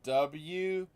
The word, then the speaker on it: Wu-Tang: It's spelled WU-TANG.